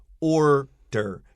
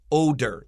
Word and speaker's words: order: issue in this line the word or der you really need to drain shito here you need to curl your tongue if you don't order sounds like odor and an odor is